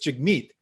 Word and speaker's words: Jagmeet: is and actually it's the emphasis is on the second part so it's chic meat and that's what it